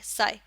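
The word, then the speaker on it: psi: letter use करते हैं Greek letter और इसको कहते हैं साई ठीक है ये ग्रीक लेटर है साय जिसकी स्पेलिंग होती है पी एस आई साई और ये होता है वेव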